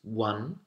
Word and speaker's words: one: He wants to know how to pronounce one, own, loan, and I'm going to add owl. Okay, so we have one, O-N-E, the number, one, like an sound, wa, one.